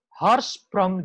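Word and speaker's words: Hirschsprung: important you know type of disease known as Horst from disease okay it is pronounced as hoarse from disease so let's talk about this now this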